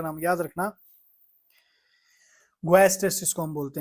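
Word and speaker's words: guaiac: ग्वस test इसको हम बोलते हैं।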